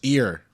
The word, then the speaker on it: Erie: Erie, Ieer. How do you say that? It's just ear.